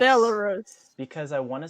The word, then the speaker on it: Belarus: Yeah, Fire keeps mispronouncing my country's name. Where It's the Belarus, Fire. Belarus. It's Belarus.